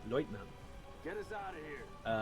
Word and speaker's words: Leutnant: word lieutenant is used, they usually pronounce it Leutnant.